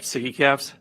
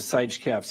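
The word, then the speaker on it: SIGECAPS: That's how you pronounce it, right? Siggy caps? Yes. Because I pronounced it Sige caps the other day, and that was wrong.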